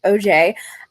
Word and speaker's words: Auger: It's by a man named Michael Auger. It's Auger. But he's very clear in the book that it's pronounced Auger.